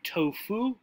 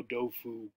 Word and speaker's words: tofu: In English, we would say tofu. In Chinese, the T would have a D sound. So dofu, right?